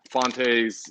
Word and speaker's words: Fonte: should have received the fontes um every time i say that i feel like i'm mispronouncing it but fonte's right that's that's the way you pronounce it that's yeah to our